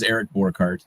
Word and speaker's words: Eric Bart: okay well Dr Fox you did pronounce my name right it is Eric Bart uh I'm associate director